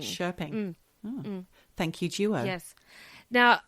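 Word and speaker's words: Köping: with two dots p i n g that's pronounced shping shping thank you Joo yes now at the age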